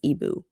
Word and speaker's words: Igbo: And he says, "Well, I'm from Ibu land, so you're going to have to learn." Now, I have a note to myself, "Igbo, but you don't say the G, so it's ibu."